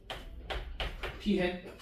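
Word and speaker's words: p̂: 그래서 그러면 표본 비율은 뭐라고 쓸 거냐면 P하고 위에 삼각형 이거 P 햇이라고 읽어. 무작 P 햇.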